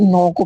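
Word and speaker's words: knock: जो एन के पहले अगर के आता है वो हमेशा साइलेंट रहता है। जैसे नॉक के एन ओ सी के। देखो स्पेलिंग क्या है? के एन ओ सी के नॉक। लेकिन पढ़ा क्या जाता है? इसे नॉक पढ़ा जाता है। के को यहां पर भी साइलेंट रखा गया है।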